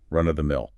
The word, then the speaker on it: run-of-the-mill: And be sure to stress the first word, run-of-the-mill.